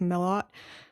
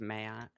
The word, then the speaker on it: Mailhot: Today I am joined by Benedict Milot. I totally just butchered that. You're going to have to tell me it again. It's fine. Benedict Mayot.